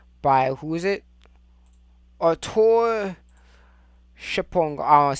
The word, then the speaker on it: Schopenhauer: Arthur Schipong. I don't want to say his name. How do you say his name? Arthur Schopenhauer.